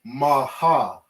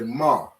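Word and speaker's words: מה: and the heart connect so we don't say ma ha all right these connect so we drop the ah sound at the end of ha all right say that one more time we drop we all right and we connect these and we say ma all right we're saying one syllable not two not maha we're saying one ma all right you see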